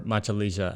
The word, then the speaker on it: Machalilla: for a place to stay in machelia or machelia as the locals would pronounce it this area in Ecuador